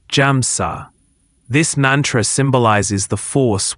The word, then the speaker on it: Hamsa: I have often taught the use of the mantra Hamsa, pronounced Jamsa.